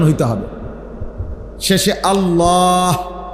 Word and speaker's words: আল্লাহ: শেষে আল্লাহ, শেষে একটা গোল হা আছে, ছোট হা। আল্লাহ মানে আল্লাহু, তো হুটারে শ্বাস ফেলাইলে হলো আল্লাহ।